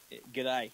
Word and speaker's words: G'day: Is that how they say it? Good day? G'day. G'day. Yep, just g'day.